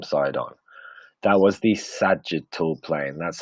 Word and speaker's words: sagittal: That was the sagittal plane. That's how you spell it up here.